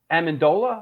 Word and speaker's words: Amendola: uh when I at tillelli and Amendola am I pronouncing that right yeah yeah yeah ironically they're